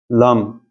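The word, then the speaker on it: لام: ders konumuz lamdır lam bu şekilde yazılır Bir de yer başka bir harf ile birleşirse o zaman bu şekilde yazılır bu harf lam diye telaffuz edilir ve bunun Türkçe karşılığı da l harfidir lam Hem sağdan hem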